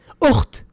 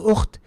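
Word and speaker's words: أخت: Why do we write the big ta when it comes to ukht? Because when we stop, we don't say ukh. La, we say ukht. We pronounce the ta when we stop.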